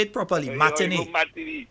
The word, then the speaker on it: matinee: Matinee.